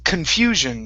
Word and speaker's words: confusion: Okay, and the only other word right here, instead of confusion, it's confusion. The stress is on the U.